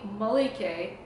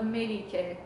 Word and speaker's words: Melike: So they call me Melike instead of Melike. So it's ma instead of me.